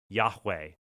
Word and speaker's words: Yahweh: It was Eye Ashreye, which is the tetragrammaton YHWH, Yah, which is we pronounce, we believe, Yahweh.